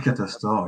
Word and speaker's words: Catastor: C'est Catastor, je prononce bien. Ah, c'est Catastor, oui, c'est ça.